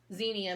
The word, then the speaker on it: Xenia: Is California Giant Xenia Mix. Yes, I know it's pronounced Xenia, but we say Xenia.